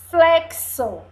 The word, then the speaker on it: reflexo: é sílabas tórax tórax agora é Reflexo se você observar o som do X tá com som do CS não é verdade reflexo